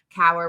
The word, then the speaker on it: Cower: Cower rhymes with flower or shower or tower.